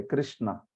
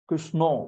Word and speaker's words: कृष्ण: कृ कृ संस्कृत में कृ होता है, ऋकार होता है। कृष्णा, स्न भी नहीं, क्षण, हाँ श और अण ऐसा होता है।